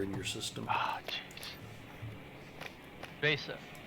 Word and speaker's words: VESA: Vesa. I mean, it's spelled with an E, and you don't want to confuse it with a credit card, so you say Vesa.